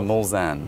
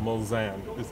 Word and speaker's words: Mulsanne: how do you pronounce it? I always get it wrong. It's the Mulsanne. Mulsanne.